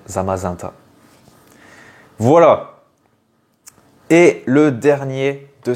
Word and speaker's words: Zamazenta: voilà et du coup ça doit se se prononcer normalement zamazenta magenta zamazenta voilà bon pareil personnellement je vais je vais garder le zamazenta parce que je préfère mais normalement on devrait dire zamazanta voilà et le dernier